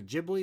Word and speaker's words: Ghibli: mean maybe uh Studio it was a Ghibli is how you pronounce it I'm I'm an anime novice by the way um Studio Ghibli like that people love